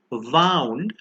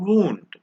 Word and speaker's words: wound: pair of homographs is wound and wound wound on the left is the past tense of wind which we just learned wound on the other hand is an injury this is a little